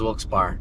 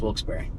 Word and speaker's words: Wilkes-Barre: Wilkes-Barre. Wilkes-Barre. It's Wilkes-Barre. Wilkes-Barre. How the fuck does that say berry? B-A-R-R-E. Wilkes-Barre. Bar. Trust me. I used to think it was Wilkes-Barre, but it's Wilkes-Barre. It's bar.